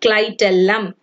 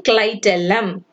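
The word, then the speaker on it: clitellum: ten eleven evening apartment this is how it has to be pronounced i am repeating clytelum i am once again repeating clytelam okay and which is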